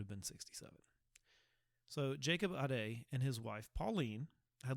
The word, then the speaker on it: Ade: german families was the aday family ade but the best pronounced pronunciation i got was uh a day um it could be aid but i think it's a day i'm gonna settle on that um i don't want